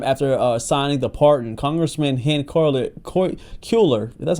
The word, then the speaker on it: Cuellar: But um only a short time after signing the pardon, Congressman Hen Ker Culer, that's how you say his name, announced that he will be running for congressman again in the great state of Texas.